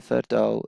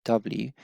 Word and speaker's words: Verdouw: Matthew Verdou is the, sorry if I pronounced the surname wrong, it's Verdouw, and he's the sort of CEO, if you like, of the company, and really passionate.